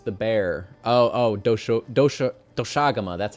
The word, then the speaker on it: Doshaguma: Oh, do doshagama. That's how you pronounce it. I always want to call it doshaguma, but I guess it's technically pronounced doshagama.